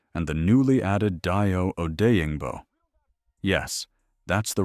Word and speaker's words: Odeyingbo: time behind Sweat and the newly added Dayo Odeyingbo. Yes, that's the right pronunciation.